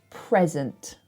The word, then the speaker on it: present: somebody else is a present, which is a noun. Present. Thank you for this present. That's so nice. So if it's the noun, the thing, we put the stress on the first syllable.